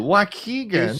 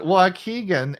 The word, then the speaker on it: Waukegan: careful JJ from Waukegan how did I do Waukegan she said it right did I get it did I nail it Waukegan and snow flurries for the past two days